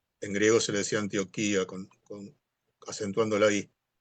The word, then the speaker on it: Antioquía: Este sí, en realidad, como es una palabra griega, tiene acento en la I. Se le dice, se le decía Antioquía. Yo sé que en América, no sé si en Colombia creo es es Antioquia, ¿no?